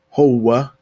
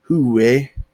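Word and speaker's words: هو: So like Huwa in Egypt usually sounds more like Howa. And in Syria, they'll say it Huwe. Syria, Palestine, Lebanon, Huwe. And they'll say Hiye. So just some variants to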